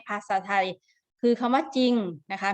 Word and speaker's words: จริง: ที่ อยู่ ข้าง หลัง แต่ เวลา อ่าน จะ อ่าน ออก เสียง ว่า จริง จริง ๆ นะ คะ ไม่ มี เสียง รอ แต่ เขียน เวลา เรา เขียน มี ตัว รอ แต่ ออก เสียง ไม่ มี รอ ดัง นั้น นะ คะ